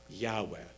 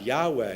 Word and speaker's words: Yahweh: the letters Yud-He-Vav-He, and came up with the name Yehovah, hence Jehovah's Witnesses. But then later, grammatical scholars posited that it must instead have been pronounced Yahweh.